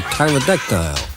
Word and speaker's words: pterodactyl: The winged freak is a pterodactyl, an extinct giant bird with a silent P.